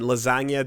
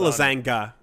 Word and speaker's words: lasagna: It's not lasanga. It's fact. The G is silent.